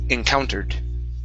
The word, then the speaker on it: encountered: Ed d ending. Okay. So, instead of saying encountered, it's encountered. Encountered.